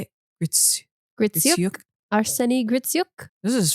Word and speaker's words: Gritsyuk: Gritsyuk.